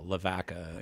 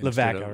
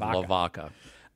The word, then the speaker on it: Lavaca: Pronounced the local way, yeah, Lavaca. Lavaca, instead of Lavaca.